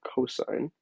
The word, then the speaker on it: cosine: hypotenuse so the cosine this is how you say it cosine it's like sine with a co in front of it and the